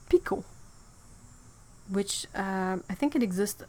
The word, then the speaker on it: Pekoe: P I see ot if you say that one like picot that's exactly the French pronunciation of it picot and the T well